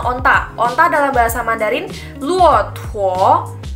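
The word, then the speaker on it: 骆驼: Onta dalam bahasa Mandarin luotuo. Luotuo, bukan luotuo, tapi luotuo. Jadi T-U-O, kita tekan bacanya pakai H.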